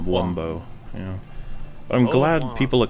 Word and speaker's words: Wumbo: shape or form uh but it's spelt with a like like bow and arrow and we've never said womb's bow it's always one of wumbo yeah i'm glad people